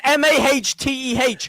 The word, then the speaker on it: mate: The way to pronounce it is MAHTEH. Wait.